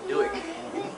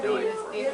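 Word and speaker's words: Dueck: And we pronounce it Duick more, like in the last 25 years it's been Duick.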